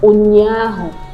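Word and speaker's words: ụnyaahụ: That's pronounced, there's no English equivalent, so it's pronounced as O, O, O, O.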